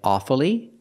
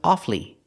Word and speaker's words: awfully: but sometimes we don't this word has two pronunciations sometimes you'll hear he Americans say awfully and pronounce it with three syllables pronouncing the U following the rule awfully but it's not very common it's more common to hear offly offly and not pronounce the U offly two syllables the U is silent this is more common